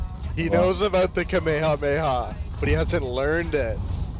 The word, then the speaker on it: Kamehameha: He knows about the Kamehameha, but he hasn't learned it. Oh shit. Oh, dude, God. You gotta learn this, bro. Have y'all heard that Fortnite player that mispronounced Kamehameha into the Kamehamama?